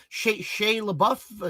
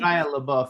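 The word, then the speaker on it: Shia LaBeouf: Sha Sha Labou, is that his how do I pronounce his name? Shia Labou.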